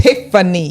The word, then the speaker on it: Tiphanie: Tiphanie. There you go. Just PH. But you know, but they're right though, because that PH is pronounced F.